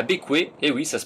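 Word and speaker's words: Bequia: Après une petite journée de navigation, on arrive à Bécoué, et oui, ça se prononce Bécoué, pour faire les formalités d'entrée au pays.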